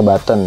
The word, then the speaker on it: button: ya Tuliskan but button seperti ini tulisannya dibacanya Baton ya kita masukkan button Hai